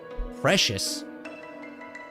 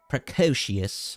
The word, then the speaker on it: precocious: Precious. It's not precious. It's time to look it up. The pronunciation. Precocious, I think.